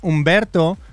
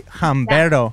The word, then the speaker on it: Humberto: My name is Humberto, but the H is silent in Spanish, so it doesn't matter if it's there or not. That's true. But in English, it does. So people say Humberto.